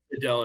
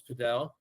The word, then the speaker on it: padel: You may paddle. hear. All I've heard is paddle. So paddle is definitely how it's pronounced in Spanish. Pero a lot of people in America are calling it Padel. Interchangeable right now.